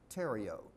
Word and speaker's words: Theriot: could be Dakota Theriot, T-H-E-R-I-O-T, but the pronunciation of French, Theriot, not Theriot.